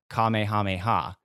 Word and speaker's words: Kamehameha: extent so there's this is it's not a spell it's a power up the Kamehameha that's how you say it correct yeah so